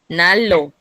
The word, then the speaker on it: 난로: Nalo, Nalo, Nalo, Nalo, 난로.